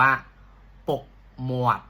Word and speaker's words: ពុកមាត់: เนาะ หนวด นะ ครับ ออก เสียง ว่า ปก หมวด สิ ครับ ปก หมวด นะ